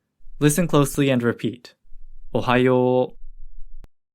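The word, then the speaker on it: おはよう: Japanese is Ohio Ohio remember that an OU combination usually creates a long o sound in Japanese listen closely and repeat Ohio Ohio Ohio is a casual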